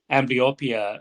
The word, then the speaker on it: amblyopia: uh amblyopia is that the right way to pronounce it yes yes amblyopia is a prevalent form of visual impairment uh